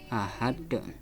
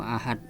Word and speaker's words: ahad: Ahad bukan membacanya qul huallahu ahad. Enggak ada pantulan. Tidak ada pantulan berarti itu qalqalahnya salah. Jadi yang benar qul huallahu ahad contohnya itu.